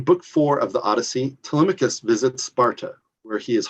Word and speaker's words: Telemachus: or telecom to yeah telecoms okay i i'm going to accept that uh telemachus is yeah it's the pronunciation you're looking for but that was clear